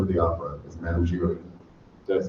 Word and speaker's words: Giry: But in addition, she's just completed a world tour of Phantom of the Opera as Madame Giry.